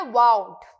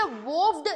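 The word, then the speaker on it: vowed: Next word है वाउड। इसे वोव्ड नहीं प्रोनाउंस करना है, वाउड प्रोनाउंस करना है। वाव, जैसे बोलते हैं ना वाव, वो वाला प्रोनाउंसिएशन है इसका।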